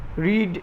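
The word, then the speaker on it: read: রিড এর V3 হচ্ছে রেড, বানানটা একই থাকে, উচ্চারণটা আলাদা হয়ে যায়, রেড।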